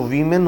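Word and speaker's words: women: है यह श्रृंगार होता है है और जो विमेन होता है कि यह प्लूरल होता है वह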